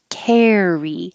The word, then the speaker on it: carry: The verb carry uses the vowel air. So you have to open a little bit more.